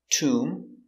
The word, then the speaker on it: tomb: very good so remember whenever you see m b at the end of a word the b is always silent these are only some